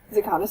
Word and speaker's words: Zakanis: Zakanis is really hard to pronounce for a lot of people.